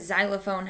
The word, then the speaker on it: xylophone: We do have words that start with X, like X-ray and xylophone, but xylophone has the Z sound, okay?